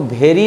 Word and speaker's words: vary: अब इसको थोड़ा सा उच्चारण में अंतर करिए आप, VARY कर दीजिए स्पेलिंग में, इसका उच्चारण होगा वैरी। वैरी मतलब होता है अंतर, अंतर होना।